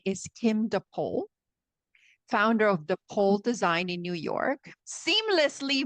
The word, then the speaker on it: Depole: I say I say there's the North Pole, there's the South Pole, but there's only one deep pole of design.